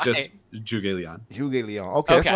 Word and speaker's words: Zhuge Liang: I've heard so many people say Z Huge.